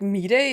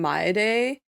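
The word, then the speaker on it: Mydei: reclaimed through violence I don't know if like mid day is the correct pronunciation because everyone just calls him May Day in like English but I think you don't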